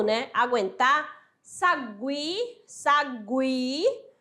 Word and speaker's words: sagui: do U né aguentar Sagui Sagui eu não vou falar Sagi é Sagui tranquilo tranquilo diferente ó